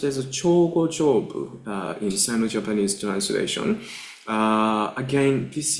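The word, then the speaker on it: Jōgo-jōbu: It is pronounced as Chogo-jobu in Sino-Japanese translation.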